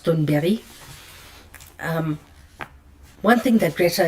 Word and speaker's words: Thunberg: And she told me one thing that I think Greta Thunberry, well you guys know her as Thunberg, but in Swedish her surname is pronounced Thunberry.